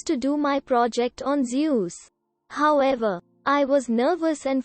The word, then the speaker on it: Zeus: presentation a kid asked you do know it's pronounced zeus right quote jesus christ i'm